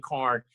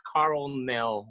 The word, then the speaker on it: Carlnel: A lot of people say it wrong. Carn. Hello, it's Carlnel. Okay, Yep. Swallow the L. It's not silent.